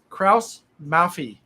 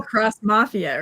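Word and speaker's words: Krauss-Maffei: and say it right it's called the what kraus mafi the kraus mafia see and i kept hearing cross mafia or something i didn't cross mafia yeah this thing is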